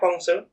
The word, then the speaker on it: Guangzhou: the China Southern Airlines flight from Shanghai to Guangzhou, is that? Yeah, Guangzhou.